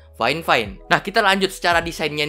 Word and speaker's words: Fifine: adalah headset fine-fine karena sudah dikoreksi sama mereka kemarin rupanya bukan V5 Tapi bacanya Flying fine Nah kita lanjut secara